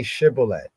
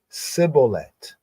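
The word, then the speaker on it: shibboleth: and other Israelites so they say to him now say shibolet and he said CET for he could not frame to pronounce it right you know like in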